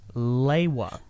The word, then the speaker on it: Lewa: In these encyclopedias, Greg Farshty wrote down all the pronunciations for names, including Lewa. However, he wrote it down as being Leiwa.